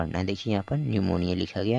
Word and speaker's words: निमोनिया: से पढ़ा जाएगा निमोनिया हो गया यहां पर पीस साइलेंट है ध्यान रखिएगा निमोनिया हो गया तो